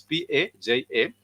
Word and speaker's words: paja: it's written uh also its pronunciation is almost going to be very close to just the way you see it written for example it's p a j a for paja and that